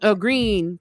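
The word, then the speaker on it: Gruene: New Bron Falls, um, Grun Green, Texas, but but it's spelled the German way of green grun.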